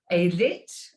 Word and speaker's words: Ayelet: novelist and screenwriter called it's a y e l e t a lit i believe is the pronunciation waldman and she said